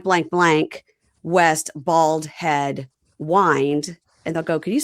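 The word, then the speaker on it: Wynd: So lots of people with their house names are time to unwind unwinding right because it looks like unwinding but it's w y and d.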